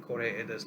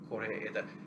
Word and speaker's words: Koreeda: Um, Please note that the hyphenation in Koreeda's name is simply to uh, indicate the proper pronunciation for English speakers. There is no hyphen in his name in Japan. Koreeda.